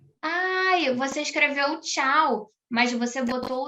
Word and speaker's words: tchau: Você escreveu tchau? Então, a gente lê tchau. É uma palavra difícil mesmo, Letícia. Um monte de consoante junta, mas Terminei. Tchau. Porque o T é mudo.